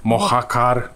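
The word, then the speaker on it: Mojácar: jest to moja kar mohacar Tacy z nas Hiszpania tak i od ty się wymawia jak h mohacar umiejscowiony jest w valmerii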